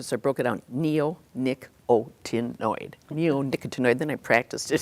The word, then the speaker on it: neonicotinoid: Right now, in fact, imidacloprid is a member of the neonicotinoid family.